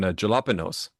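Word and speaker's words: jalapeño: It starts with a J. A J starts with a J sound, Hmm. not an H sound.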